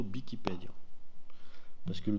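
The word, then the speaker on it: Wikipèdia: Et normalement, la prononciation occitane authentique, ça serait plutôt Bikipédio.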